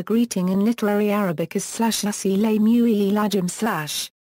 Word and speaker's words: السلام عليكم: The classical pronunciation of the greeting in literary Arabic is /as-salamu alaykum/. Many people today omit the initial as and pronounce the word as salamu alaykum.